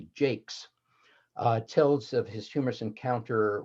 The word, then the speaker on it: Jaques: But the very best one of these is from As You Like It, when the character that most of us today call Jaques, but was probably in OP Jakes, tells of his humorous encounter with the fool Touchstone in the forest.